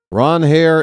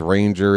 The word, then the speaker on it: Ranger: Ron Hair is the traditional pronunciation for Mr. Suarez, but he says Ranger is fine.